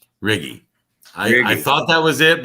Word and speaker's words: Righi: been butchered before anyhow my italian it's italian name it's riggy riggy i thought that was